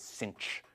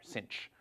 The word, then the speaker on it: sinh: we usually pronounce this cinch. So in American English, as if there were an extra C in there, cinch.